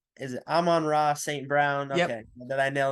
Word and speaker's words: Amon-Ra St. Brown: I always say his name wrong. Is it Amon-Ra St. Brown?